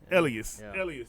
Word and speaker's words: Llyas: Ellis. There you go, Llyas. Elias, yeah. So, like I was saying, I had to pronounce his first name.